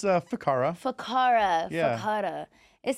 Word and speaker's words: Ficarra: I I could not get it it's a faka faka faka it sounds better when I say